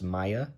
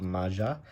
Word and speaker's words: Maja: We have, people are telling me this is pronounced Maya, Bredegard Protector, not Maja. So we'll remember the J's or Y's in the Scandinavian world.